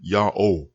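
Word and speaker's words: יהו: the 20th century but the pronunciation yahoo is attested repeatedly over thousands of years from the 14th century bce and forward it's not a new name it's the return of the real name the one true name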